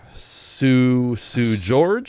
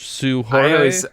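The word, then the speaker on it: Seu Jorge: I did not recognize I don't know how do you pronounce his last name. Sue George? Sue Jorge?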